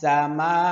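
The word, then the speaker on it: السَّمَاءِ: পড়বো বাকিটা মিনাস সামা মিনাস সিন সিন মিনাস সা মা এখানে চার আলিফ টান হবে হামজা জের ই হামজার উচ্চারণ স্পষ্ট করতে হবে অনেক সময় আমরা যখন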